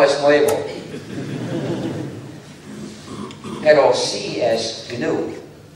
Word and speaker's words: GNU: En castellano se puede pronunciar new. Es más fácil, hemos observado, para los que hablan castellano. Es más fácil decir new en lugar de GNU.